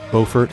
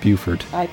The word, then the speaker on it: Beaufort: through his hometown of Beaufort is that how it's pronounced I pronounced it Buford but I believe in the movie they could they call it Beaufort but Beaufort Beaufort tomatoes tomatoes it actually begins that